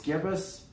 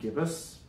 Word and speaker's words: gibbous: I think it's Gibbous, like a gibbon, but it's not a given. Let's see. So the fifth movement is called Full Moon. Sixth movement is Waning Gibbous, however you say that.